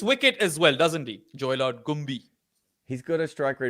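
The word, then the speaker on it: Joylord Gumbie: But as I said, the batting, Joy Lord Gumbi, sadly not pronounced Joy Lord Gumby.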